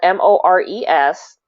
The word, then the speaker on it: mores: a part of so more as spelled m-o-r-e-s and pronounced more um they are social